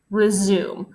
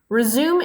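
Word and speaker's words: résumé: is you the text resume is a noun that comes from French and is pronounced differently as a French word would be so resume means a summary of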